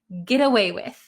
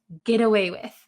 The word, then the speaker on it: get away with: so in american english when we pronounce this really really quickly this t is going to become a d sound an english d sound gera gira get away with get away with okay the meaning is